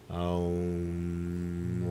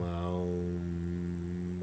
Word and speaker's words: Om: It's always pronounced as Aum, Aum, Aum.